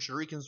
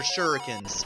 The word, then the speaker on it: shurikens: just keep tossing your shurikens with the 2 button at him. Also shurikens, they're shurikens. I don't know why I'm pronouncing it the way I did as a kid.